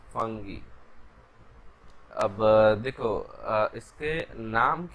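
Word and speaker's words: fungi: आई am comfortable with फंगी and Google भी फंगी ही बताता है, तो हम लोग फंगी पे चलेंगे। हाँ, बाकी दूसरे प्रोनाउंसिएशंस भी गलत नहीं है, ऐसा नहीं है कि गलत प्रोनाउंसिएशंस है।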